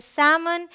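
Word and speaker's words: salmon: भी L silent है यह है सैमन यह है यहां एल साइलेंट है यह है आमंड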